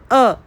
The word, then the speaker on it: अ: तो यह है पहला स्वर अ। बहुत से लोग इसको आ बोलते हैं, ऐ बोलते हैं। आपको इसको सही से प्रोनाउंस करना है। तो चलिए मेरे साथ बोलिए अ से अनार।